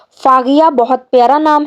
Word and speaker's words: Faghiya: अगला नाम है दोस्तों फागिया। फागिया यहाँ पे है की आवाज निकलती है दोस्तों। फागिया बहुत प्यारा नाम है।